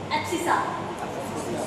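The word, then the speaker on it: abscissa: एब्सिसा। y को ordinate. ये थोड़ा प्रोनाउंसिएशन है एब्सिसा तो एब्सिसा।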